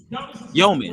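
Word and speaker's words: Demin: So I've heard Yegor's last name, like the pronunciation has changed now. Yeoman, right?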